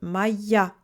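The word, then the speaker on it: моя: Moj plus le A du féminin qui attire l'accent sur lui devient donc maya.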